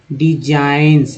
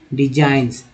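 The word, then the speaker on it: designs: हैं अल skills and डिजाइंस, जी एन में जी का उच्चारण नहीं होकर एन का सिर्फ हो रहा है, डिजाइंस ऑफ वीविंग, आईएनजी हो गया।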